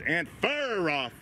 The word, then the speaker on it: Anferov: excuse me someone said we we said his name wrong or something it's ant far off oh christ i don't know we're americans you